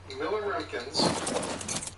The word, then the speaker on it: milliroentgen: Like right now it's set on milliroentgens, which I probably totally butchered that name. No, he actually said it perfectly.